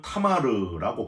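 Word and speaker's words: תמר: 여러분 가나안의 종교 산당이 있는 상수리 나무와 아주 대조적으로이 종료나무는 히브리어로는 타마르라고 발음을 하는데 아주 곧게 자한 그런 나무 단단한 나무가 바로 종료나무입니다.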